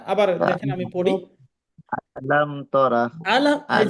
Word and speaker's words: تر: এই তা র, এখানে রটা যেন রা না হয়, আবার তোরা যেন না হয়, এটা যেমন জি আবার তোয়া না হয়, এটা খেয়াল রাখবেন।